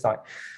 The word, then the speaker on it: psi: the y that we sorry it's not far right mispronounced it's PSI this one is PSI so um there is